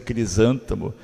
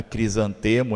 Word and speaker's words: crisântemo: aeroporto eu digo aeroporto ao invés de dizer crisântemo né crisantemo ao invés de dizer esteja